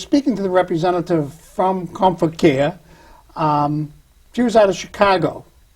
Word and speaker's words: ComForcare: They want to put a T in there all the time. It's actually ComForcare. So we come for care. Okay. Now, when I was speaking to the representative from ComForcare, she was out of Chicago.